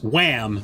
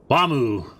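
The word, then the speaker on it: Wamuu: And there was a trio and of characters, one of them whose name was Wham, basically, but Wamu is how they pronounced it on the show, which I thought was great.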